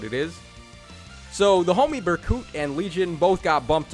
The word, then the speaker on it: Berkut: Yes, I am calling him Berkut now because someone was nice enough to actually tell me how to say his name.